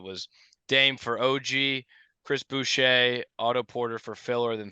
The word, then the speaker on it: Boucher: Boucher. I think it's Boucher. Like Bobby Boucher.